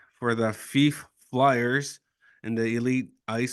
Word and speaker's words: Fife: No, it's Fife, but that's close Fife?